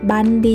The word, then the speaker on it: บัณฑิต: คุณ ครู นะ คะ บัณฑิต อ่าน ว่า ว่า บัน ดี แปล ว่า ผู้ รู้